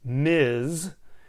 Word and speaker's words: Ms: have is ms smith this title ms period pronounced ms this is for any